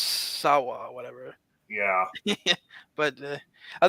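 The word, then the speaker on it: Samhain: Even though if you look it up, it's not pronounced Sam Hain. I mean, that's how it's written. It's pronounced Sawa or whatever.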